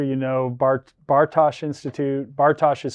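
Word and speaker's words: Bartosch: to make sure you know Bart Bartosh Institute Bartosh is spelled b-a-r-t-o-s-c-h I think I got that right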